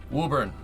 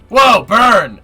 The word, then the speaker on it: Woburn: Woburn is how we say it. Whoa, burn! No, don't say whoa, burn. That's not right.